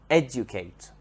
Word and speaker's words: educate: the verb educate educate has the stress on the first syllable educate educate if we change